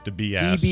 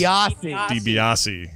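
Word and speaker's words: DiBiase: the Million dooll Man Ted deice de base de beasi debiasi there you go yeah well combo of getting that wrong and correcting Scott's pronunciation loses you 15 points it I'm just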